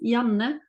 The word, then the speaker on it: Janne: How do you pronounce your name? So hi, yeah, my name is Janne.